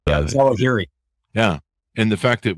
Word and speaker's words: Zawahiri: I can't pronounce his last name. Yeah, Zawahiri.